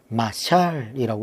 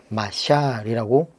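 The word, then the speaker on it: משל: 이렇게 기록하고 있습니다.이 자몬이라는이 말은 히브리어로 마샬이라고 이렇게 발음합니다.이 말은 뭐 마땅히 우리말로 번역할 말이 별로 없어요.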